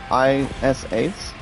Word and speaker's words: Radis: The last one name, guys, is pronounced Raddis.